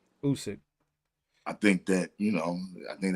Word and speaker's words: Usyk: Usyk. Usyk.